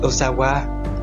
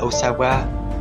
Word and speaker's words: Ohsawa: thức lấy tên là Osawa. Theo như cách phát âm trong tiếng Pháp, Osawa có nghĩa là tôi khỏe, như một câu trả lời cho câu chào hỏi bạn khỏe không.